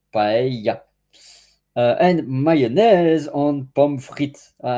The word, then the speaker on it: paella: I was pronouncing first paella, but the double L in Spanish is ya, so paella.